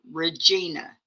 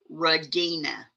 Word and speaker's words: Regina: Okay, I pronounce mine Regina. She pronounces hers Regina.